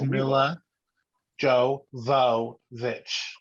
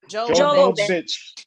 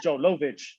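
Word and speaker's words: Milla Jovovich: is Mila Jovovich. Jovovich. Okay. Oh, I thought it was Joe Lovich.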